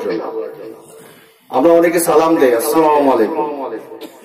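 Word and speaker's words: السلام عليكم: আমরা অনেকে সালাম দেই, আসসালামু আলাইকুম, সালাম সিন দিয়ে। এখন আপনি যদি সাদ উচ্চারণ করেন তার অর্থ মারাত্মক চেঞ্জ হয়ে যাবে। সালাম মানে কি? শান্তি। আর যদি সাদ দিয়ে উচ্চারণ করেন তাহলে আপনি ধ্বংসপ্রাপ্ত হন, আপনার ক্ষতি কামনা করছে সে।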